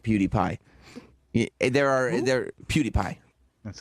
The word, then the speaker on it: PewDiePie: I mean, a lot of people do not like PewDiePie.